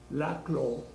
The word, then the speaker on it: Laclau: En la política, en realidad, y lo dice Ernesto Laclau, la AU se pronuncia O.